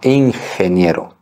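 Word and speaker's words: ingeniero: Сой ине Я инженер Обратите внимание на произношение слова ихние не Инге не инженер ихние отлично ещё один пример Катя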